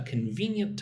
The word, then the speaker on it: convenient: Let me know a convenient time for us to connect. When is good for you for us to connect? Look at the word convenient. Now, I don't say convenient. Say like three syllables.